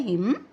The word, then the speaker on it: hymn: और एक्चुअली जो है हिम का क्या मतलब है, HYMN इसकी प्रोनाउंसिएशन है हिम, और इसमें जो है एन जो है वो साइलेंट है।